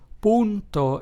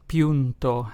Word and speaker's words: punto: word o so therefore the Spanish word punto which means point is pronounced as punto and not punto as you probably would assume in English this vowel can also